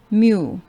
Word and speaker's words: mu: sure that you learn this and it is pronounced as mu okay now let's talk about this less than